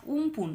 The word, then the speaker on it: আমফান: এবার প্রথমে ভূমিকা মানে আমফাম ঝড়টা কি আরেকটা কথা বলে দিই আমফাম অনেক অনেকে স্কুলে দেবে দেখবে আমফানের কথা বলেছে বা উমপুন এই দুটো কিন্তু উচ্চারণে আলাদার জন্য দুটো নাম আসলে একটাই ঝড় যেটা 2020 সালে হয়েছিল